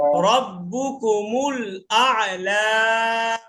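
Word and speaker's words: رَبُّكُمُ الْأَعْلَى: হামজা আইন, আগে হামজার উচ্চারণ আ। রব্বুকুমুল আলা ভাই হাসিব ভাই আন আ হয়ে গেছে বুঝছেন, একবার হবে আ লা, একবার আ। যদি বলেন আলা তাহলে তো দুটা আ হয়ে যাচ্ছে, আ লা।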